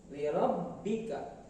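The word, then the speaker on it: لِرَبِّكَ: Selanjutnya ada kata lirabbika, lirabbika, sama halnya dengan tasdid yang ada di huruf-huruf lain, termasuk huruf ba. Ba bertasdid juga cara membacanya ditekan, lirabbika.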